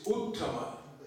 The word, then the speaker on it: uttama: The word used for the pure devotee is uttama. Two syllables. Ut, tama.